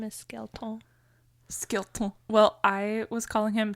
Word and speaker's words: Skelton: name was like wait is it Skelton or Skellington what's the real version It's skeleton so there's been rumors